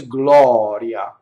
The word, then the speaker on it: gloria: to memorize this but this one is Gloria just a semi vowel next here we have